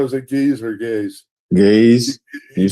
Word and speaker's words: Ge'ez: Gaze.